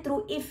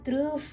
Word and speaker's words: Trueve: di paling akhir yaitu ini truk if bacanya true if ya gue soalnya rasa-rasanya bacanya pengennya truf gitu taunya true if ya ya kalau kalian